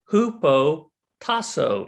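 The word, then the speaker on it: ὑποτάσσω: And so the Greek word, interesting enough, is a word pronounced hupotasso.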